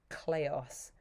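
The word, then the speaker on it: kleos: week we're going to be learning the word cleos cleos is spelt k-l-e-o-s and the word basically means fame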